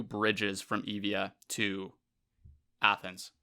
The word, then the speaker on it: Euboea: And from this victory, the Persian fleet now, they would set sail to Evia, which is sort of spelled Euboea, but it's pronounced Evia, which is the home of Eretria.